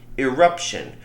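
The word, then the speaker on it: irruption: 4 years or so called an eruption not eruption like a volcano but it's spelled i r r u p t i o n eruption which is where Birds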